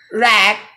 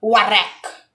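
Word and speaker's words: wrack: In this word, the letter W, the first letter W is not pronounced and it is silent. So it will be rack, not warack. It's incorrect. The correct one is rack.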